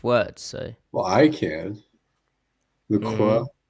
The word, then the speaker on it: LaCroix: But that you actually say, look, you actually pronounce the X, though, is interesting to me. Is it? Well, yeah, I mean, it's an interesting combination. You have the vowel pronunciation correct, but then you pronounce the ending consonant.